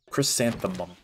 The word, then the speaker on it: chrysanthemum: chanem seed it's crazy people mispronounce that all the time I noticed chrysanthemum they're like Chum that's odd I guess